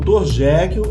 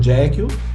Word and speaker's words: Jekyll: Jekyll tem um nome que soa muito parecido com a pronúncia da expressão eu mato em inglês, que é I kill. Aí é só você pensar, Jekyll, I kill, Jekyll, I kill.